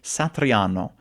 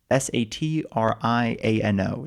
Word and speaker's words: Satriano: Satriano s a t r i a n o. Satriano is I guess how you would say it with an like an American English type accent.